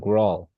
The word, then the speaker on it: Rawle: Oh, like Rawle. Yeah, for example, yeah, like you, Like, why is there an E there?